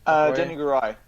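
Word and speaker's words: Danai Gurira: Yep, Denny Garai. Yeah. Denny Garai, sorry. Yeah, thank you. I can never remember how to pronounce her name, so I was a little on the nervous side there.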